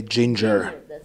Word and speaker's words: Jinjer: berlin where i'm with ginger or guinere how do you say it we say ginger ginger okay great so you